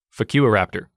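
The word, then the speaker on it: Fukuiraptor: ] you asaurus i swear to god yeah it's spelled f-u-k-u-i-r-a-p-t-o-r focus raptor if you don't believe me google it it's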